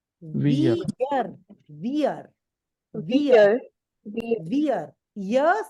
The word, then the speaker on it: ihr: And this IHR, the last one IHR, this is pronounced like the English word YEAR. How do we pronounce YEAR? Ear. Ear. This is how IHR is pronounced. Ear.